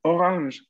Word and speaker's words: orange: Orange. Ok. Atención aquí a pronunciar bien la R si no terminan diciéndolo en inglés.